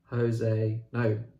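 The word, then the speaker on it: José: And then our final tie in the quarterfinals is Leila Slimani's Lullaby versus Jose, Portuguese pronunciation, Jose Saramago's Death at Intervals, domestic thriller versus magical realism.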